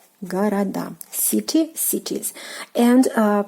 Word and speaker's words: города: Города, city, cities. And pay attention to the stress position, город, города. So the stress falls on the last syllable, which is the ending of a plural form, which is "a".